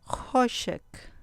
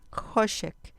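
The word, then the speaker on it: חֹשֶׁך: Hoshek. Hoshek. Con acento en la penúltima sílaba. Hoshek.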